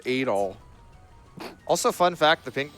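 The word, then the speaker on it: Adol: It's pronounced Adal.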